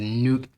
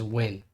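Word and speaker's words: Nguyen: My boy said nuke. Okay, look, I got Vietnamese family, so I'm gonna let them slide, but it's win.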